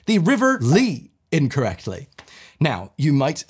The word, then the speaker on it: Lee: It kind of looks like Leah, and I bet you never heard it being pronounced. No, this is another one of those cases where I've actually heard the name many, many times, and I always think to myself, that's weird. They pronounced it without the A.